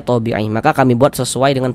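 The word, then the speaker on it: طبيعي: Karena cara membacanya itu mad thabi'i. Tapi kalau dalam bahasa Indonesia itu dibacanya ee penulisannya tabi'i, tapi bacanya thabi'i.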